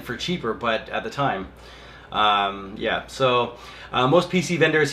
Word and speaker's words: Ti: the 1080 and 1080 Ti came out with the benchmarks sorry Nvidia Texas Instruments came first and the wrapper you know solidified the pronunciation so I'm gonna say ti not not ty okay well usually the